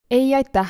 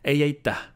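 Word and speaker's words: ei aitäh: Ei aita. So you really have to pronounce the H at the end. Ei aita.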